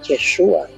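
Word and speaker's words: ישוע: Pues aquí en el sustantivo en hebreo tenemos la palabra Yeshua, que es una pronunciación tardía del nombre de Jesús en hebreo, que es Yehoshua.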